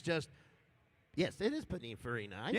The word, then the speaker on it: Pininfarina: Actually, it's just, yes, it is Pininfarina.